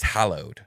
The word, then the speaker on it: hallowed: Yeah, because it is hallowed. Okay, I'll start not saying hollowed. unhallowed. Yeah, because hollowed would mean something completely different.